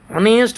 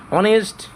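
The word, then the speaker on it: honest: মানে সে একজন সথ মেয়ে তাহলে এখানে হবে অনেস্ট উচ্চারণটা তোমরা দেখতেই পাচ্ছ ভাল দিয়ে অনেস্ট এইচ সাইলেন্ট উচ্চারণ যদি শুরু হচ্ছে তাহলে ভায়েল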